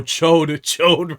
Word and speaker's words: Chode: Oh, Chode rhymes with Toad.